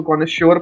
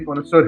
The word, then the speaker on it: connoisseur: मैं तो उसको कॉनेश्योर पढ़ता, बट ये कॉनेसोर है, कॉनेसर, कॉनेसर अभी जाके प्रोनाउंसिएशन देखा था।